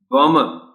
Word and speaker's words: bomber: Bomber, इसमें B silent है, बताना पड़ता है बच्चों को, और स्ट्रेस पहली B पर है.